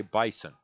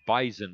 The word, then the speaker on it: bison: you probably you pronounced you don't say bison it's bison with a Z the bison bison 20